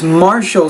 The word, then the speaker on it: martial: the emphasis of martial it's martial skills their martial that Ti is an SI sound such a silly thing